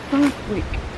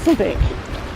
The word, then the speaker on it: Southwick: The limit family had moved here from their earlier estate at Southwick Northamptonshire probably pronounced sodic.